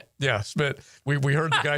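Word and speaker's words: Szmyt: And then and then that's how you pronounce it. I don't have no idea. I think it's Schmidt. Yeah, Smid.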